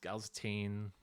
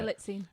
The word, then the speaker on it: Galitzine: I think Nicholas Galzatine, if that's how you pronounce it. Galitzine.